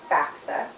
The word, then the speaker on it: FAFSA: Um, if anyone here has considered college or better yet, how to pay for college, you may be familiar with the letters FAFSA. That is pronounced FAFSA.